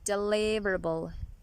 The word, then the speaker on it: deliverable: is deliverable deliverable deliverable this case the primary stress is also on the second syllable deliverable deliverable as it is